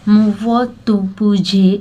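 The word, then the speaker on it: Muvattupuzha: तो name of A town मुवत्तुपुझे in Kerala is not pronounce the वे it is written. The last three letters are pronounced as r with a roll of the tongue.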